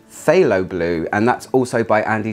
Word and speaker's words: phthalo blue: wore i can pronounce it right now it's pronounced phthalo blue and that's also by andy tower this one